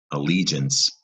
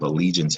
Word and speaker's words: allegiance: And up top, allegiance has what is called a soft G sound.